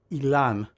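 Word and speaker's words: אילן: This is how you spell my name in Hebrew, and it is pronounced Ilan, similarly to Elon Musk.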